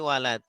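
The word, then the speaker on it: ولد: Kalau ini kan nggak ada alifnya berarti walad. Doroba Zaid. Nggak ada alif. Yang nggak ada alif di mana? Setelah wawu. Kalau setelah wawu ada alifnya berarti walid bacanya. Kalau orang tua. Ini, iya. Kalau wawu nggak ada alifnya setelah wawu berarti walad bacanya, berarti anak.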